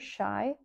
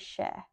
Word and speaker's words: sea: I would say "sea" or "ní hea" Sea = Is ea and "shy" and "sheh" (not spelled like this as Irish) is said in dialects in Donegal sheh, shy "shy" is a combination